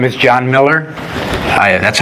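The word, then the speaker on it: Meller: anything please do so my name is John Miller I that's how I pronounce it and uh it's spelled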